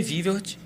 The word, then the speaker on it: Vilvert: Osasco, confirmando Adriane Vilvert. Como é que pronuncia o Não sei. Danilo? É o que tá escrito aí. É Vilvert mesmo, Vilvert, Adriana deve Vilvert.